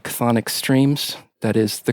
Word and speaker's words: Chthonic: Besides that, I've been running a little label off and on for a few years called Chthonic Streams. That is the correct way to pronounce it.